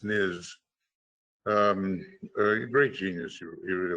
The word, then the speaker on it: Leibniz: We have difficulties when we try to see through one point, although, Leibniz, it's actually not pronounced Nitz, it's Niz.